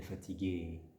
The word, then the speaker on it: fatiguée: Mais en Suisse, on va prononcer ce et féminin. Il est fatigué, elle est fatiguée.